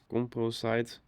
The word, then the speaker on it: composite: And in the settings, we go to composite. How to pronounce composite with a shorter vowel in British English.